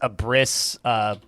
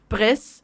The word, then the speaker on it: Abriss: But so it's German, and it's pronounced Abriss. Sure. So you pronounce the first syllable. Okay, so a Briss, but with more phlegm. Got it. Sure. Yeah. Well, it's like up, and then a slight pause, riss. Like it's not Briss, it's up, riss.